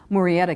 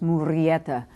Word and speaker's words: Murrieta: were turned away from Murrieta, California, which really should probably be pronounced Murrieta, California.